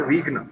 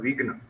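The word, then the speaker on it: Vighna: For example, he had corrected the singers when they sung the Ganesha Bhajana Vigna Vinashaka, that it was not a Vigna but Vigna, meaning obstacle remover.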